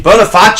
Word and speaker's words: Boniface: Boniface is how you pronounce that name.